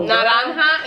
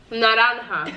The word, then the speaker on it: naranja: Oh, Naranja is orange. That's hard. How? Naranja.